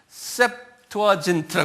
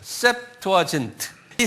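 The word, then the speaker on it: Septuagint: 그 번역된 그리스 성경이 그리스 말로 된 성경을 셉투아진트 그러는 거 한번 발음해 보세요 셉투아진트이 셉투 아트라 말은 무슨 말이냐면 아 이게 라틴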